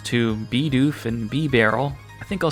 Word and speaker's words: Bidoof: This one though, apparently I've been saying Bidoof and Bibarel wrong. I just have to change the vowel sounds to Bidoof and Bibarel.